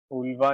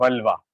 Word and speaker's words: vulva: ओल्वा नहीं, यूफुला, wait wait, vulva. I'm writing मैं अलग प्रोनाउंस कर रहा था, वल्वा, VULV।